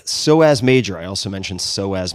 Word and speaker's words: psoas: All right, psoas major. I also mentioned psoas major. That's spelled P-S-O-A-S, major.